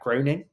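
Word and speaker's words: Groening: of The Simpsons whose name I can't pronounce is it Matt groaning yeah yes and um yes yeah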